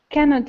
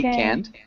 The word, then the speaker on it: canned: Canned food. Canned. Can you repeat canned? Canned. Good. We pronounce T or D. It sounds like a D.